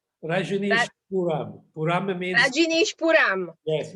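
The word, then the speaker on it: Rajneeshpuram: What's the right pronunciation? Rajneesh Puram.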